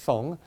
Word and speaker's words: Song: it's spelled s Ong kind of like the word song but it's pronounced sung it's the song family